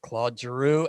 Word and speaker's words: Claude Giroux: 28 the captain of the philadelphia flyers mr claude giroux and i said it right not like clarky